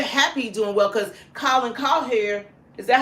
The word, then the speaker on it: Cowherd: And we're happy doing well because Colin Cowherd, is that how you say his name?